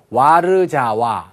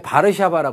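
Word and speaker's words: Warszawa: 이거 되게 어렵죠 그니까 우리 식으로 이걸 읽으면 와르 자와 이렇게 되는 거잖아요 근데 본인들은 읽을 때 바르 샤바라 읽고요 미국 사람들은 절대로 원어민들의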